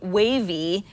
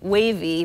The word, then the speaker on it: Wavii: status updates that's exactly how an app called wavy which is spelled w a v i i wavy works it's not unlike an app like Circa